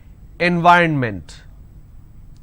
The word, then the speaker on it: environment: right environment nvironment so this is the correct pronunciation environment and the mistake that you end up doing is you end up pronouncing n v ronment now this is wrong it's not environment it